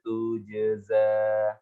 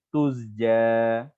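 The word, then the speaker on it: تُجْزَى: ain sukun, min ni'matin tujza. Nah, hati-hati di sini jangan kebalik ini, ya. Kadang-kadang ada yang baca seperti ini, tuzja, tuzja, karena kan kebalik. Seharusnya kan jim sukun kemudian zai, tujza, min ni'matin tujza.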